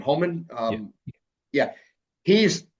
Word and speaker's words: Homan: The new border czar, Mister how do you pronounce his name? Homan.